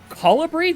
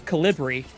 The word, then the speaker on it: Colibri: I've never seen such an enormous colibri. Colibri? That's how you pronounce it? Okay. I thought it was Calibri. But nope, Colibri. Not good.